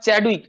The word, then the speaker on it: Chadwick: তাহলে নিউট্রন আবিষ্কার করেছেন কে, নিউট্রন আবিষ্কার করেছেন বিজ্ঞানী জেমস স্যাডউইক। জেমস স্যাডউইক বা চ্যাডউইক, যে যেভাবে উচ্চারণ করে, স্পেলিংটা হচ্ছে CHADWICK, স্যাডউইক। ইনি কি করেছিলেন, যে 1920 সালে 1920-তে তিনি কি করেছিলেন, এই নিউট্রন পার্টিকেলটা ডিসকভার করেছিলেন।